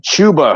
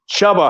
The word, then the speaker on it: Chuba: And before we get to Mike's lineup, I have to think that they pronounce his name Chuba Hubbard because Joe keeps calling him Chubba Hubbard.